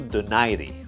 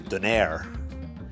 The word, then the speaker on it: Donaire: bring it guess what two days from now no need to deny D and I say deny D just because that's how it's pronounced in Filipino language I know a lot of people say Denair but I say denied